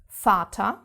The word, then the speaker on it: Vater: different from English because we actually pronounce it mostly as an F. F. For example, Vater, which means father, Vater.